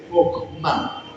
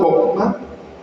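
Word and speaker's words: חכמה: En hebreo la palabra sabiduría se dice chokmah. ¿Cómo se dice? Dígale al que tiene al lado, chokmah.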